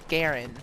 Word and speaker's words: Garand: I'm using is the m1 garand or m1 grand rifle whichever way you want to pronounce it it was also known